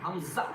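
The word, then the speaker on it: حاء: ওয়াও wow Hamza Hamza Hamza Hamza হিচকা Hamza Hamza ইয়া ইয়া আবার পড়ুন আলিফ আলিফ বা তা ফা জিম জিম হা ভিতর থেকে আওয়াজ করুন এই কন্ঠনালী থেকে হা জিম জিম হা খ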